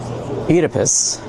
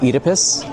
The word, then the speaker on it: Oedipus: Oedipus. I think that's how you say it in the UK way, Oedipus.